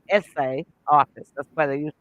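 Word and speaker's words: assay: a y essay but it's pronounced essay like a school essay office and so this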